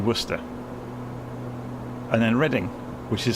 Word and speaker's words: Worcester: you've ever come across like Worcester which is spelled Worcester Shire also Worcester it is actually Worcester and then reading which